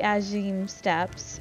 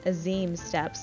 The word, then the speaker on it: Azim Steppe: so the aura of the as you steps or I'm sorry Azim steps let me not butcher the pronunciation of this area they get involved in